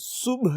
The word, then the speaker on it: صبح: ٹھیک کر لیجیے آپ۔ ہم اس کو صبح پڑھ رہے ہوتے ہیں، لفظ کو یہ صبح نہیں ہے، یہ لفظ صبح ہے، یعنی آخر پہ آپ ہے کی آواز نکالیے، جیسے ہے پڑھتے ہیں آپ، صبح ایسے پڑھیں گے تو اس کے تلفظ ٹھیک ہو جائیں گے۔ آج ہم نے دیکھنا